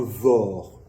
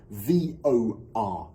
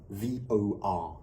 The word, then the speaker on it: VOR: Un VOR en français devient VOR. Il faut bien noter qu'on prononce chaque lettre individuellement. VOR.